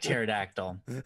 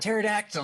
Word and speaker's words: pterodactyl: okay um anyways um p is silent yeah the P it's like pterodactyl um oh that was it pterodactyl No um so we